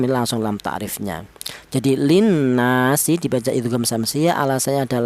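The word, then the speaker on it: لِلنَّاسِ: Bacaan kedua ada nun yang bertasydid, dibaca gunna. Bacaan yang ketiga ada yaitu ada alif didahului huruf yang berharakat fathah, dibaca matobi. Jadi cara bacanya ya linnasi ya, linnasi seperti itu.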